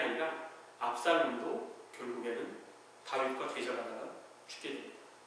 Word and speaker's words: 압살롬: 아들 압살롬, 이 발음을 잘해야 되지만 욕 같잖아요.